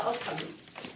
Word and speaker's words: autumn: A-U-T-U-M-N. The N is silent.